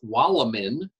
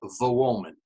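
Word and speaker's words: Wołomin: As you may know, the W in Polish is pronounced like the English V, while the L with a line through it is pronounced like the English W. And so what looks to the American reader as Wolomin is pronounced in Polish as Wolomin.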